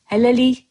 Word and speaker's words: hələlik: You see, officially we write hələlik, but when you pronounce it, you're going to soften the k at the end and you're going to say it as y.